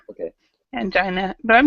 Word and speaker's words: angina: I had s medic okay yeah okay and angina is how we pronounce it angina okay angina but I'm not even sure what it is